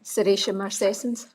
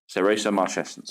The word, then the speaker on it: Serratia marcescens: I've never learnt to pronounce this one. Serratia marcescens. Serratia marcescens, yes.